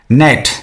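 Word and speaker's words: gnat: इसका प्रोनाउंसिएशन क्या है? नेट यानी जी साइलेंट।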